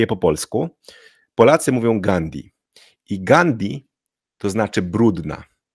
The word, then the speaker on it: Gandhi: znaczy brudny gandi brudna ale jego nazwisko musimy wymawiać używając dwóch rzeczy o których powiedziałem Po pierwsze to a jest długie i po drugie po D jest h czyli po tym d musimy powiedzieć Gand gandi czyli nie gandi tylko